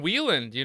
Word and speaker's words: Wieland: Wieland, it's it's kind of like a funny story.